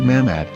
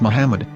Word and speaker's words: מחמד: According to Ben Yehuda's Hebrew English Dictionary, it is correctly pronounced as Muhammad, not Mamad. So how we're going to know for sure if it's pronounced as Muhammad, the Muslim prophet, or